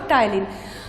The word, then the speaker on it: ptyalin: ठीक है, इसमें P साइलेंट होगा, टाइलिन।